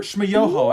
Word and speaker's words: Schmoyoho: The Gregory brothers, or Schmoyoho, accent on the yo.